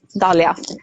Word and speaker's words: Dalia: So you have sent me an email about, how do you pronounce her name? Dalia? Yeah, Dalia.